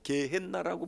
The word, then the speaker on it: 게헨나: 요즘 성경은 게헨나라고 번역하는 게 있어. 지옥이라고 번역하지 않고 게헨나. 그러니까 원래 발음대로 하는 게 게헨나.